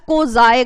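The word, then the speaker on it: quasi: ठीक है, this is pronounced as क्वाज़ी contract. ठीक है, this is written as क्वाजी contract, but अगर आप डेफिनेशन पढ़ोगे डिक्शनरी खोल के जाके कि इसको प्रोनाउंस कैसे करते हैं, so this is क्वाज़ी contract.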